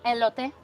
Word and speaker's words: elote: And then she said it and I went, how do you pronounce it? Elote. Eloote.